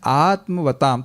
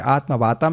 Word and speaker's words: आत्मवताम: हैं वो क्या है, आत्मवताम, थोड़ा सा स्पेलिंग मिस्टेक है, आत्मवाताम नहीं, आत्मवताम है, स्वरूप सिद्ध भक्त पुरुषों के लिए।